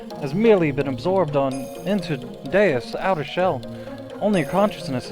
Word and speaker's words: Deus: Your actual body is but a physical object, has merely been absorbed into Deus' outer shell. Only your consciousness is here. Are you tired of saying deuce? Because it's specifically pronounced deus.